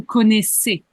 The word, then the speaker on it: connaissez: S pour le conjuguer, mais la prononciation, c'est un double S. Donc, c'est vous connaissez. Vous connaissez.